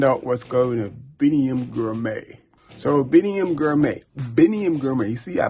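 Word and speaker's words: Biniam Girmay: So Biniam Grimy, you see I pronounced it right.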